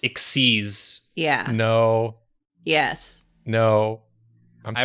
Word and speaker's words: XYZ: I remember there's also a thing that's like it's XYZ summoning, but it's pronounced Xyz.